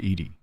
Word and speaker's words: EDI: Why are you named Edy? ED is the phonetic pronunciation of EDI. That is an acronym for enhanced defense intelligence.